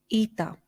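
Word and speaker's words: ήτα: in the word Zoe Ita which we pronounce as e like in the word Heroes feta Theta which we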